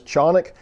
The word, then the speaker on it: Canik: go ahead and call them canic yes the pronunciation is chonic but here in america we see say things the way we want to so we'll call them canik from here on out but it is very